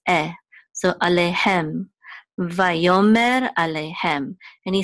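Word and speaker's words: וַיֹּאמֶר: This is a mem with a sigul and a resh, which says mer, mer, va, yo, mer.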